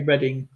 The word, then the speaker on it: Reading: Do you pronounce it as Reading or Reading? I would say Reading.